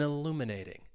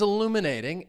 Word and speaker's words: illuminating: So if something is illuminating, it's providing insight, clarity, or understanding. The museum's new exhibit provides an illuminating journey through the history of ancient civilizations. Stress is on that second syllable. Illuminating. Illuminating.